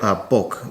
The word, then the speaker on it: Bokh: Bokh.